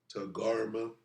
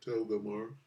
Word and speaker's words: Togarmah: with them uh uh Togarmah, is how you say it, Togarmah, not Togamar.